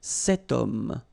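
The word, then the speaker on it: cet homme: Setum.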